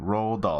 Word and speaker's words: Roald Dahl: It felt like, you know, it felt like it captured that, I always have a problem pronouncing Roald Dahl, the author's name, Roald Dahl.